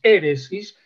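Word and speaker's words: αἵρεσις: de una palabra griega que al principio tiene una H suave, airesis, así una expiración, ¿no? No inspiración, sino una expiración, airesis, que como la AI, que es un diptongo, se transforma en la pronunciación del griego en E, resulta que es éresis, y de éresis viene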